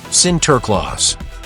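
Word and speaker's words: Sinterklaas: When Dutch immigrants came to America, they brought their tradition of centerclaus pronounced center clause.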